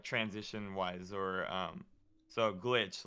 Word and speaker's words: Glytch: like on everything so i just replaced the eye with the y um because i know that even though it's not how it spell like you still will pronounce it properly so it didn't really